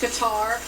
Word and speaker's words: Qatar: talking with chip earlier there's been some debate over the pronunciation whether it's Qatar or Cutter but talking with B officials it is indeed cutter and I've always heard you say it that way cutter is what uh